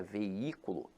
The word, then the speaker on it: veículo: esse jogo infelizmente agora a palavra veículo apesar de ter hiato veja que a sílaba tônica se encontra na anti-penúltima sílaba então aqui ela é acentuada pela regra da proparoxítona Então meus amores não